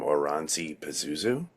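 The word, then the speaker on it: Oranssi Pazuzu: I want to say, now I'm going to get the name wrong, but I saw them Oranzi Pazuzu.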